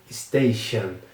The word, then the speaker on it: station: Station. Esse t aqui no meio da palavra tem meio que um som de X. Station.